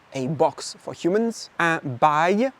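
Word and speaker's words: bail: and buy a lease pronounced like buy which is ironic because once you sign it you are not going anywhere.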